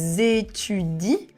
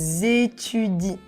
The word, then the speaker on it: étudient: As you can see, we have the ENT, but be careful, the ENT, we don't pronounce it. We will just say, ils étudient, elles étudient, and here the ENT is completely silent.